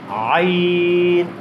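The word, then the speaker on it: عين: জি, আইন কোত্থেকে উচ্চারণ করছি? এই যে কণ্ঠনালীর মধ্যখান থেকে।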